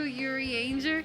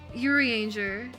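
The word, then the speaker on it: Urianger: say it like that i played in the japanese dub until shadowbringers and in japanese stuff they said yuri anger and i never got used to saying yuri on i never i never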